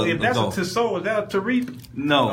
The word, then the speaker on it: Tissot: I have a Tissot, but Tissot, Tissot. Tissot. Yeah, it's pronounced Tissot.